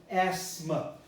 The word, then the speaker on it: asthma: the language decided that you're not going to pronounce the th okay it sounds asthma but this is a